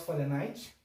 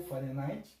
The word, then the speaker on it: Fahrenheit: A escala graus Fahrenheit ou Fahrenheit, aí você, a forma de pronúncia, né, é a forma de pronúncia alemã, né, e a Kelvin.